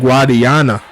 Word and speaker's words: Guadiana: Tight ends will be Antonio Lewis and Darren Guadiana. He like how I say his name. He said I got it right, so I'm gonna say it right every single time.